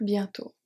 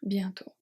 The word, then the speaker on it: bientôt: J'ai déjà hâte de revenir bientôt. 3 silent letters. J'ai déjà hâte. So here the H and the final E. Hâte de revenir is fine. Bientôt, silent T. T. Bientôt.